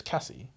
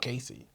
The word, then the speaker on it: Casey: I thought if you read the book, you'd think the name's Cassie, not Casey.